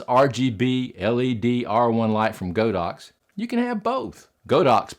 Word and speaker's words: Godox: I know a lot of people say it's supposed to be pronounced Godox, but I'll just mispronounce it. It's Godox with me.